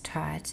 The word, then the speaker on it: taught: I taught taught um so that's taught it has a u a u will always make the ah sound ah H is silent but it gives an